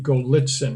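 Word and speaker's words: Golitsyn: for old and again his name is anatoly golitzen just as it sounds phonetically and in that he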